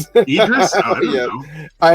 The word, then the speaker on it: Idris: How do you pronounce his name? It's It's Idris. Idris.